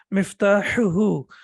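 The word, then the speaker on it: مفتاحه: We have hu and then hu. So the first one is both of them are from the throat, but this one is sharp. So we say miftahuhu and miftahuha.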